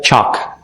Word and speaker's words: chalk: Itu kan tulisannya chalk gitu. Tapi L-nya di silent juga. Chalk.